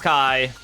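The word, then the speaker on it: chi: Yeah, the also the Greek letter Kai, which apparently Kingdom Hearts pronounces like key because puns or something, which always drives me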